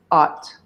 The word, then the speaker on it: ought: the semi modal and the pronunciation is ought like an otter you remember otter pops